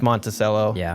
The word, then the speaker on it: Monticello: It's Monticello. I heard them pronounce it, and I was like, ew.